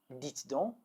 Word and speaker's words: dites donc: Let's work on the pronunciation now. Dis donc, dis donc, or dis donc, dis donc. Now the vous form. Dites donc, dites donc, or dites donc, dites donc.